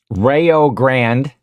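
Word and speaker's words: Rio Grande: and their headquarters and stuff are here uh Rayo Grand Ohio is where the Farms are Kim will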